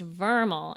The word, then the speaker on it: VRML: san francisco oh no so vrml pronounced vermal is an acronym for